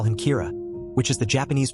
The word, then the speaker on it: Kira: about the person behind him and call him Kira, which is the Japanese pronunciation of the word killer.